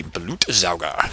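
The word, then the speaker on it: Blutsauger: frag netic with the blute zaga and yes that's how you pronounce it in German BL means blood so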